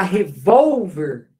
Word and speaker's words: revólver: que está escrito aqui tá escrito revolver tá para virar revólver ó essa aqui se a sílaba tônica eu vou por um acento porque porque ela é uma paroxítona terminada em R ó que beleza ó